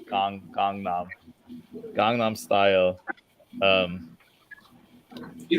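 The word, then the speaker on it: Gangnam: Style right big yeah don't pronounce it like the English word gang it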